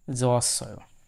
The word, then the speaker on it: 좋았어: এখানে হিউত বাচ্চিম থেকে ইয়ং এর স্থানে উপরে চলে গেল এবং হিউতের উচ্চারণ সেখানে আর হওয়া হবে না। হিউত যদি শব্দের শুরুতে থাকে তখন কেবল হ উচ্চারণ হয়, শুরুতে না থাকলে সেটি অ উচ্চারণ হয়ে থাকে।